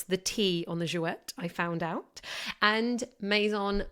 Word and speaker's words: Jouët: iconic houses per perry and yes you do pronounce the tea on the jouette I found out and maison mum but first